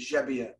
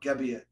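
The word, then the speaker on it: Gebbia: back in Sicily and he found out his name is jebia not gabia so he's official changed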